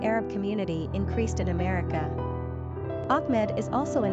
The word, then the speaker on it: Ahmad: Pronunciation, Ahmed.